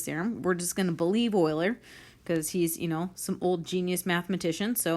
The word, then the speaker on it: Euler: is called Euler's theorem I know his name is spelled Euler but it's pronounced Euler oh my gosh this